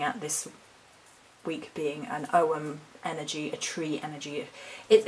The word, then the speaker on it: ogham: an ow perspective as well I'm practicing saying om rather than umum because apparently the the proper pronunciation is Owen and we do have Glenny kindred's book book